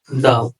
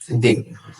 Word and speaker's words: the: THE উচ্চারণ হবে দি, THE উচ্চারণ হবে দা বা দ্য। মনে রাখার সহজ একটা পদ্ধতি হচ্ছে দাদির সিভি। প্রথম করা দা, প্রথম করা সি, পরের দি, পরের ভি। যদি কখনো দেখি একটা ওয়ার্ড শুরু হয়েছে কনসোনেন্ট দিয়ে, তার আগে যদি টিএইচসি বসে, তাহলে আমরা এর উচ্চারণ করবো হচ্ছে দা।